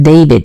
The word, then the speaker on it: D4vd: He goes by the name of David. It is spelled D4 VD, which is weird as hell, but we're not about to go there.